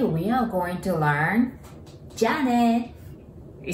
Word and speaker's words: Jyā: That's because we prolong the word. And last one is ja, a sound, right?